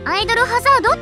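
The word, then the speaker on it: アイドル大戦争: 番組だよねアイドル大戦争って書いてアイドルハザード」って読む通称アイハサいろんな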